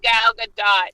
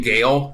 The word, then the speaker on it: Gal Gadot: actually Gal Gadot. Yeah, She it's pronounces actually the T.